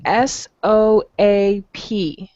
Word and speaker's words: soap: first word you see s-o-a-p okay the o-a is oh it sounds like oh soap soap okay now soap is